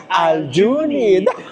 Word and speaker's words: Aljunid: Dapat pala ganon mabagal. Again, Aljunid. Dapat meron din yung dua ganito pala ang ano ang dapat gawin para malaman mo kung paano mai-pronounce isang lugar. Pumunta ka sa electric station nila. Oo. Sa mga MRT ina-announce naman pala nila.